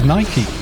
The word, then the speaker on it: Nike: i think calling yeah it is nike is how it's supposed to be pronounced but if you ask for nike trainers in the uk no one looks at you funny put it that way